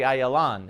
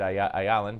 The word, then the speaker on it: Ayalon: Actually, Ayalon is how I always pronounce it. I don't know why I said Ayalon, but anyway, good to talk to you again.